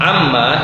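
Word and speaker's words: عمّ: Amma itu dari kata an, yang kedua ma. Nah, untuk bacanya cepat, orang-orang Arab dahulu membacanya amma.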